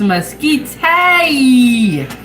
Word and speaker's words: mesquite: Okay, Liliana said it's pronounced mesquite.